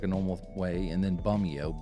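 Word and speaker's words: Bumeo: normal way and then bumio b-u-m-e-o like a bomb Romeo as a last name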